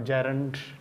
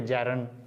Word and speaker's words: gerund: और इसकी जो राइट प्रोनाउंसिएशन है वो जेरेंड नहीं है बल्कि जेरेंड, डी साइलेंट है इसमें।